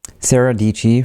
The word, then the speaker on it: Sara Dietschy: Sarah Dici, rhymes with Peachy on Twitter, asked me to talk about delegation.